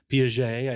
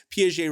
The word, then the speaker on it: Piaget: of example comes from the swiss psychologist jean piaget i believe is how you say his name